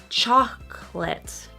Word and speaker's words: chocolate: Number 11, one of my favorite words, chocolate. So again, so much stress on the first syllable that the next syllable kind of disappears. So it's not chocolat, it's chocolate. Chocolate.